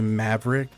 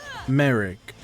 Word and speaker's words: Merrick: Uh, let's say Maverick. People, how how do you see Merrick and think Maverick? There's no there's no A. There's no V.